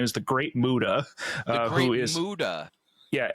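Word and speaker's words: Muta: Uh, Muda.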